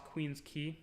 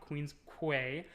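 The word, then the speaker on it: Queens Quay: going to go across queen's key that's how it's pronounced not queen's quay um and it's gonna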